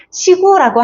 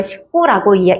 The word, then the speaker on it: 시구: 시구라고 하시면 안 돼. 야구의 시구가 아니고요. 19라고 읽는 겁니다.